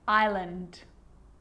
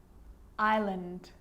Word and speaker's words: island: is not pronounced now an s can also be silent and i know that you've already struggled with this one island island debris debris and i'll